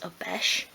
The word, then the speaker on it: Obeche: The wood I've used again is Obeche, and that's spelled O-B-E-C-H-E, and it's just a nice fine grained craft wood.